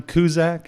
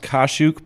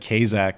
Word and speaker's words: Kaszuk: episode here of inside the box with kuzak is that how you say yourself we actually it's actually pronounced kashuk but my family but but my family though